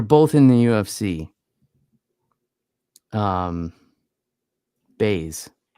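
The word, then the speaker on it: Buys: in the UFC um baze their last name is baze but it's spelled bu Ys well that's not cool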